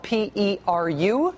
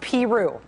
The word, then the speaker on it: Peru: And that person cheerily assured her that it is in fact pronounced Peru. Peru Iowa, not Peru.